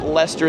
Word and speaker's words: Leicester: Leicester is how it looks like it's spelled. It's called Leicester Square.